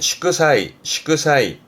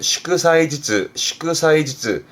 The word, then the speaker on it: 祝祭: 발음은 시크사이.